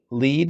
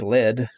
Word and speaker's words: Lead: I am currently in Lead. It looks like lead if you looked at it on the map, but it's actually pronounced Lead, South Dakota.